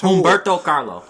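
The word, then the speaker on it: Humberto Carrillo: It was the combination of AJ Bowen through him and her how do you pronounce that boy's name again? Humberto Carlo. Yeah, Humberto Carlo, and him coming in, because I really think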